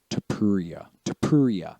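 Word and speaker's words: Topuria: Tapuria, yes.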